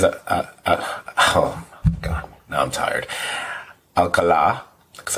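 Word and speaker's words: Alcalá: Alcala, because I know the accent is on the last syllable for his name.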